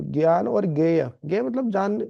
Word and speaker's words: ज्ञान: इस प्रकार से हिंदी में देखेंगे तो ये जो ज्ञ शब्द, जो ज्ञान बोलते हैं हम, ज्ञानी बोलते हैं, जय और अय से मिलके बना होता है।